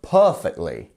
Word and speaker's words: perfectly: we planned it so our per that is our stress syllable our first syllable here per and then we have these two dots which means we have a lengthened vow perfectly not perfectly or perfectly it's perfectly and that is how we pronounce that one number 22